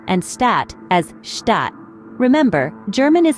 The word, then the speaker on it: Stadt: So, spiel is pronounced as spiel and stat as stat.